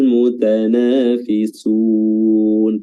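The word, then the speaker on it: الْمُتَنَافِسُونَ: Falyatanafasil mutanafisun. Tinggal bagaimana kita memperbaiki panjang pendeknya dengan baik dan benar. Terus fisun, sunnya di sini mad arid lisukun ya, kita konsisten tetap membacanya dengan panjang 4 harakat.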